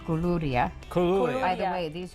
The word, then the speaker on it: koulouria: but I have a hard time with these pronunciations. These Bea. are easy. KOULOURIA.